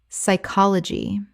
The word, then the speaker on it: psychology: Psychology Common mispronunciation. P-S-Y-C-H-O-L-O-G-Y Correct pronunciation. Psychology The P is completely silent and the Y makes a short I sound.